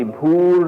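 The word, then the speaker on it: भू: This bhur is actually pronounced as bhu. Let's write it properly, bhu. It becomes bhur by a certain conjunction of sounds again.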